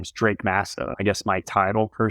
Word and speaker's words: Drake Massa: right I lead our Acquisitions my name is Drake Massa I guess my title per se is director